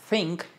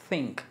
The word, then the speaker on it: think: told told told después think este sonido es muy importante th debe ser como soplando como think think thought thought después